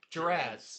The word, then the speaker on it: Gerads: I always mispronounce his name. Gerads. Yeah. I always want to add an extra R in it.